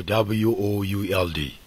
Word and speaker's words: would: could you this means could you the L is silent so also w o u l d would so also s h o u l